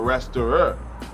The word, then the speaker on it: restaurer: Or restaurer in what they, in how it's pronounced in French.